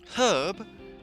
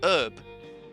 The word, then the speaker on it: herb: Well, for British English or uh United Kingdom English, we pronounce the H in herb.